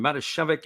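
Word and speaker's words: Matijevic: going to be jj marishevik i hope i got that one right this time mata shevik is the phonetic pronunciation and we've been struggling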